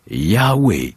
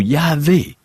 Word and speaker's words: Yahvé: Ce mot se prononce Yahwé ou Yahvé.